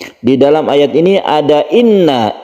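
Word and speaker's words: إِنَّا: Ada inna. Inna ini adalah tasydid nun, gunnah musyaddadah, dan ini adalah berdengung. Guna artinya dengung, kita tahan cara membacanya. Jadi kita tahan, jangan langsung.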